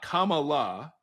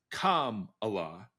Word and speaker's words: Kamala: is mispronounced it's not Kamala it's Kam Allah it like if you were just trying to say the word Kama with a law at the end K La okay okay